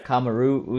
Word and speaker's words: Kamaru: Kamaru Usman. So I've been pronouncing it incorrectly the entire time.